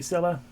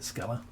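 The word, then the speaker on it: Scylla: Hey, I mean I thought it would make sense like science to be sila, but at least in this game they pronounced it skella.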